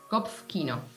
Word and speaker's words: Kopfkino: Well, how do you pronounce that one? Kopfkino.